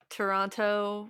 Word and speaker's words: Toronto: I've heard that I'm not supposed to pronounce both T's in that word, but I can't not pronounce both You T's in you that word. you can say Toronto any way you like.